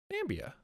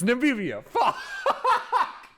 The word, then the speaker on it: Namibia: Nambia. Oh, I'm pronouncing this really wrong, aren't I? Namibia. It's Namibia.